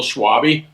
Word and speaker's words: Schwabe: It's actually pronounced Schwabe, but that's probably Okay, sorry.